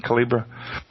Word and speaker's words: Calibre: I call it Calibre, but I've heard some of you folks in the U.S. calling it Calibra. Really? Yeah. Well, I mean, that's more because they're Americans. Americans, is that it? Okay. Well, it's a French pronunciation, so maybe they heard it first there, or somebody with an accent.